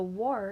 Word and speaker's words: war: It's saying OR instead of R. So that is spelled like star and car, but it is not following the same sound pattern. So war is going to be your oddball this week.